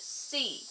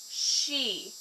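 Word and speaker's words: し: they would as I they don't pronounce it C they pronounce it she s h i and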